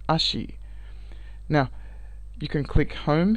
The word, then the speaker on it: Ashi: ASA in this instance is pronounced as Ashi.